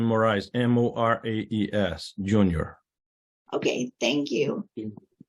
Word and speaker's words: Moraes: right sorry can you state your name and spell it for our secretary please yeah my name is j-o-s-e moraes last name moriz m-o-r-a-e-s Jr okay thank you I'm the homeowner